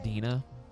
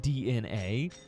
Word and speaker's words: DNA: Dina, it was hilarious to us how many people were like, it's not actually pronounced Dina, it's DNA.